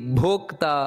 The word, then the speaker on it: ಭೋಕ್ತ: ಭುಕ್ ಅನ್ನುವಂತದ್ದು ಮಹಾಪ್ರಾಣ ಭೂ ಅದೇ ರೀತಿ ಭೋಕ್ತ ಅನ್ನುವುದು ಮತ್ತೆ ಮಹಾಪ್ರಾಣ ನಂತರ ಸುಖದು ಅಲ್ಲಿ ಖ